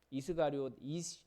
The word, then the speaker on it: 이스가리옷: 이제 우리가 가롯인이라고 생각하는데 가룟입니다. 정확한 발음은 이스가리옷입니다. 이스가리옷 그 히브리어에서 이쉬가 사람이란 뜻이거든요.